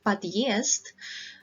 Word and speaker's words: Подъезд: So you can see that we have one consonant and then we have a hard sign and then we have vowel. What it means is that this vowel that follows this hard sign is pronounced as irritated sound.